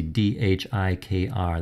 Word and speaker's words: dhikr: You see D-H-I-K-R, that's pronounced dhikr, which means literally remembrance.